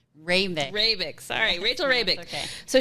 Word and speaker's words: Hrabik: I asked you how to pronounce her last name. Hrabik.